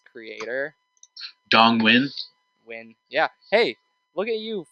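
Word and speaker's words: Dong Nguyen: Dong Win. Yeah. Hey, look at you for pronouncing that name correctly. Yeah, that is a very tough name. IGN could not pronounce it. Really? Yeah. They kept saying Nagian.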